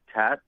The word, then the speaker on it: Tatt: Can you please pronounce, can I just call you Tatt, but could you pronounce your first name for me? Yeah, my name is Tatt.